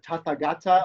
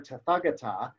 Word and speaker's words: Tathagata: one or thus gone the word can as far as i understand can be pronounced either tata gata or tathagata and thus it changes